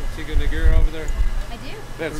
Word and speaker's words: Tiga Negara: You got to roll that tongue a little bit.